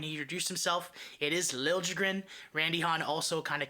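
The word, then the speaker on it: Liljegren: shar's Instagram when he introduced himself it is Lil jrin Randy Han also kind of confirmed that that his name is pronounced Lil jrin um even hearing him for years with the Leafs apparently they called him lilligren it just goes to show you why people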